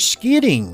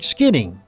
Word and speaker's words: skidding: scare ding scared ding skidding uh you wouldn't pronounce the Double D's it's only pronounced one time you wouldn't say skid